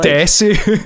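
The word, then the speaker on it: です: You don't pronounce the su in proper Japanese.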